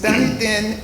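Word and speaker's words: Dunedin: but it's done then in Panelis County, Florida.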